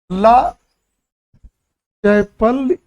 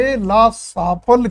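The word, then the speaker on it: Aix-la-Chapelle: जैसे उच्चारण पढ़ते हैं, ला चैपल ये या ला चैपल्ले की संध, लेकिन सही रूप में पढ़ा जाता है ए ला सापल की संधि 1748।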